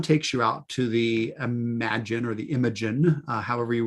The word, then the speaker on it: Imagen: Now, I think it's pronounced Imagen, but it's like image with an N on the end of it. But I believe Imagen is how we would pronounce this tool.